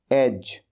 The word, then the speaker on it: edge: Next word एज, EDGE, यह है एज। ये हमेशा ध्यान रखें, प्रोनाउंसिएशन का बड़ा फर्क होता है। जैसे हम कहते हैं AGE को एज, वैसे ही EDGE को एज।